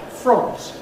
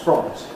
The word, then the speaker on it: front: But the spelling is such that you might expect it to be front like font. It is not from. No native speaker of English says f. Every kind of English says front or the equivalent vowel in the local accent.